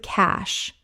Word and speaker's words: cache: It rhymes with cash. The e is completely silent.